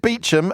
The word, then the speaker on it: Beauchamp: that's not a coincident they pronounce it Beacham and spell it Beauchamp so that they can